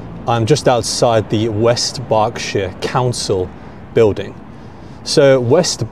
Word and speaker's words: Berkshire: By the way, the pronunciation is Berkshire. It's not Berkshire, okay? It's Berkshire. So don't be like the Americans. Pronounce it correctly, Berkshire. Most of the counties in the UK end in this word shire, right? It's always pronounced shire. Berkshire, Oxfordshire, Yorkshire. It is not Berkshire, Oxfordshire, or Yorkshire, or anything like that.